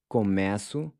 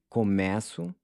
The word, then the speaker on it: começo: symbol to indicate that we need to pronounce it as E, as in air, keeping in mind that it's really spelled with a regular E. Once again, in the present tense, you have começo, começa, and começam.